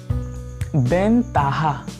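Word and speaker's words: ventaja: फायदा मतलब एडवांटेज, इसको कैसे बोलेंगे, बेंताहा, बेंताहा, ये बा बोलेंगे, इसको हा बोलेंगे, बेंताहा, बेंताहा।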